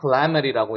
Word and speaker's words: calamity: The fire was a calamity with heavy damage. 네, 혹시 해석도? 이 화재는 큰 손상을 가져온 재앙이었다. 네, 맞습니다. 자, 여기 같은 경우는 여기에 강세가 있기 때문에 calamity라고 읽어요.